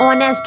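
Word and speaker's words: honest: देखिएगा Adil is blank ऑनेस्ट बॉय ए आएगा एन आएगा द आएगा क्या आएगा ऑनेस्ट है तो यहां पर आएगा आपका एन क्योंकि यहां पर एच का प्रोनाउंस नहीं हो रहा यहां पर राइट आंसर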